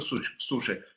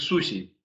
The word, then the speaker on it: суши: И как бы немножко суши. Правильно говорить суси. У нас вот все то, что в японском языке ши мы произносим, да, на самом деле это с. Суси.